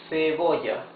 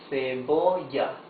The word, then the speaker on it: cebolla: Cebolla. Cebolla. Cebolla means onion. You see, it's the soft sound.